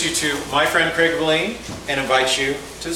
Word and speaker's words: Valine: mine, Craig Valine, who the first time I introduced him, I pronounced it Valine, and he was so nice to correct me nicely and politely, but it is Craig Valine. Rhymes with gasoline, which you pour on to flame up your marketing.